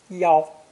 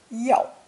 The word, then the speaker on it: 腰: earlier in Lesson 17, originally meaning a woman's waist, pronounced first tone, 腰, which was later extended to mean to intercept someone at a narrow mountain pass, pronounced fourth tone, 腰.